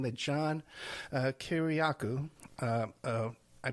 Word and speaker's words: Kiriakou: or before it's news articles saying that John Kiriakou, I pronounced that correctly, right, Kiriakou?